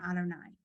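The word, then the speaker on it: אדני: and in the Torah God's name is written you would hey Bob hey or this we pronounce God's name Adonai so um yeah but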